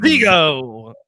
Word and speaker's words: Zigo: My name is Zigo. Say it right with a Z, baby. Like Zigo.